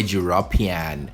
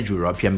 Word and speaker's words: European: Here we come to exception number 2, where the EU is pronounced with a consonant sound, U. Here you say a European. Repeat after me. He's a European man.